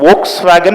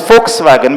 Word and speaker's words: Volkswagen: Iran just like how you call you know Volkswagen but the right pronunciation in German is folkswagen because ver becomes fur in German.